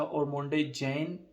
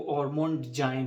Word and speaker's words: Ormonde Jayne: ये आप हाउस का नाम देख लें, इसको मैं पहले पढ़ता था ओरमोंडे जैन, ठीक है, ओरमोंडे जैन लंदन। खैर है, हम कौन सा कोई अंग्रेज़ हैं जो एग्जैक्ट प्रोनाउंस करेंगे। बहरहाल, वकास अहमद ने मुझे कहा, दिल भाई इसका जो हाउस का एग्जैक्ट नाम है ना, वो ओरमोंड जाइन है, ओमोंट जैन, ओमोंट जाइन,